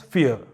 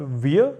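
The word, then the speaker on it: vier: And next is the number 4 is called as fear. Fear. So here also R is coming in the end and you don't pronounce it. And it is not veer, it is fear, because V is fow.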